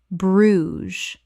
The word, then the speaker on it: Bruges: Correct pronunciation, Bruges. One syllable in natural English. The jez makes a z sound.